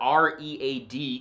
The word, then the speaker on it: read: And best of all, unlike English, where R-E-A-D can be pronounced either read or red, depending on tense, Indonesian is a super phonetic language where words are spoken exactly as they are written.